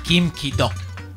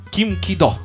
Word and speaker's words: Kim Ki-duk: Kim Ki-duk. Kim Ki-duk. Devi dire la C, ma non la devi dire. Ok, ok. Kim Ki-duk.